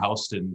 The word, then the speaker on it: Houston: they won't know any, they'll mispronounce Houston. They'll pronounce it like Houston Street, Yeah.